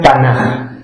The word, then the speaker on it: Tanaj: Se escribe Tanaj, pero se pronuncia Tanaj.